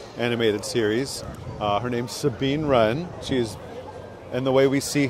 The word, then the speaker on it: Wren: No, the silent W Ren. Oh, I get it. The different. W is silent.